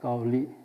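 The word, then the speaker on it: 高麗: 그니까 카오에나 카울리라고 한 거는 왜 그렇게 표현했냐 하면은 여기 그 한어로 고려라고 하는 것은 현대 발음하고 약간 다르겠지만 지금 현재 발음은 까울리라고 합니다. 까울리 그러니까 그 이탈리아나 그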